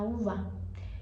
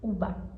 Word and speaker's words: uva: vocês no espar argentina que o V ele é pronunciado como B. Sim, o V e o B tem o mesmo som. Então você poderia falar assim, uba.